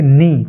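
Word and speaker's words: knee: से हो रहा है लेकिन यहां पर देखिए नी के एन डबल ई इसमें के का उच्चारण न से हो रहा है नी नी मींस घुटना ऐसे ही नो के एन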